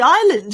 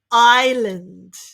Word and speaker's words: island: similar to the country island you're right island definitely no s sound and definitely no land island island well done